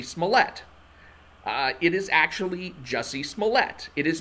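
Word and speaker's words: Jussie Smollett: example being jessie smallette uh it is actually jesse smollette it is not juicy smollet that is a dave chappelle joke to to pronounce his name that way is the dave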